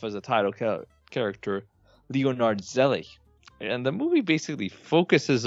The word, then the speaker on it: Zelig: We're going to talk about 1983 ZELIG, or ZELIG, if you want to pronounce it correctly, in a German pronunciation.